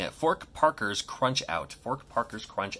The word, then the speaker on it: Fork Parker: let's go for it and here it is fork Parcher high coupon mispronouncing at fork Parker's crunch out fork Parker's crunch out there's a